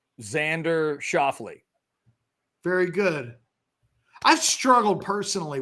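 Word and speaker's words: Schauffele: year's British Open the cor I can correctly pronounce um by it's Xander shafley very good I've struggled personally with that name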